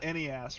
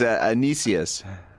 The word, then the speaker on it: Anicius: It's not Enias, right? No, it's Anicius.